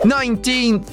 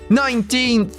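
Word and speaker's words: nineteenth: Ela soa como 9, porque a letra E não é pronunciada.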